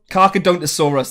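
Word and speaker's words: Carcharodontosaurus: anyway so carcadosaurus nice carca don't saw us that's how it's pronounced the dragon was in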